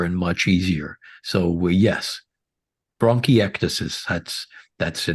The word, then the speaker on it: bronchiectasis: for a patient with bronch tesis bronchiectasis perfect that very close Dylan that was very good yeah good yes yes